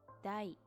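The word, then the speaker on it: 大: You can read it as dai.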